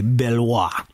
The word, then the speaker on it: Beloit: The folks over at Beloit College, is it Beloit or Beloit? Like if you were in France, you'd say Beloit. But I think because we're here in America, we say Beloit because that's how it's spelled.